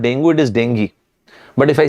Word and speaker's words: dengue: of people diagnosed with dengue fever actually the pronunciation of this word is not dangerous is dengue but if i say dengue you will feel